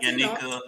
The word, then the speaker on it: Yaniqua: So my YouTube channel, my name is pronounced Yaniqua. I know it's spelled funny, but Yaniqua, my bad.